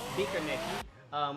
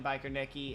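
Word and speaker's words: Biķernieki: This is Bikernieki. We hear the American pronunciation, which is fine. Bikernieki, it's fine. We do the thing with the E, it's whatever.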